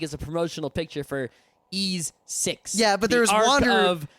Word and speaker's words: Ys: pronunciation debate on so I know the critic pronunciation now it is actually a manga/anime RPG spelled capital Y lowercase ease not wise ease ease I said wise when I was a